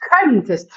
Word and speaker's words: könntest: Yeah, der König, because there's only one N afterwards in German diction, in pronunciation, but könntest, It's an open Könntest.